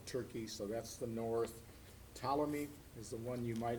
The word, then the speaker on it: Ptolemy: so that's the north ptolemy is the one you might have heard of that the p is silent p-t-o-l-e-n-y ptolemy's the ptolemy's